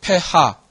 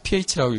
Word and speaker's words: pH: 그래서 pH는 이거 예전에 저도 그렇게 배웠지만 예전에 선생님들은 폐하 뭐 이렇게 얘기하는데 폐하라는 말 안 씁니다. 예, 폐하라고 안 하고 그냥 pH라고 읽어요. 예. 물론 어떤 전공에서는 어떻게 할지 모르겠는데 화학에서는 폐하라고 안 합니다. pH라고 합니다.